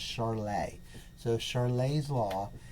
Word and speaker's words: Charles: american you might say charles law but he was a frenchman and so it's actually pronounced charlay so charlay's law says